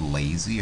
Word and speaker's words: LASI: thousands of dollars uh it actually may be pronounced lazy I think some people pronounce it lazy but I intuitively say Lassie although that might be